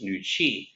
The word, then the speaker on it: Nooci: traditional chinese medicine for women nugent chinese is pronounced nuchi which means women's energy and i think that